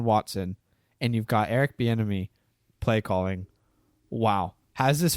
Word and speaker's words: Bieniemy: Benamy? How do you say his name? I'm not sure how to say. Buchanan? Eric Bieniemy, sorry.